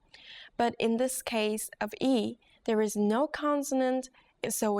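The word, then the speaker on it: 이: consonant are you ready your first vowel is e e this is pretty easy right practice writing this character as you say the pronunciation out loud as you say this simple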